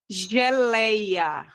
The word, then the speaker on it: geleia: Geleia. Quando eu te eu olho pra palavra geleia, eu consigo verificar que a sílaba mais forte é o lei.